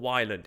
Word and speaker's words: Ylands: it pronounced island or island it is it is island because that's how it used to be spelled in old english with a y but it used to